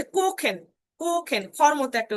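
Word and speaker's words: kochen: স আর একটা হচ্ছে খ, যেমন এই যে কোখেন, কোখেন, কোখেন মানে রান্না করা।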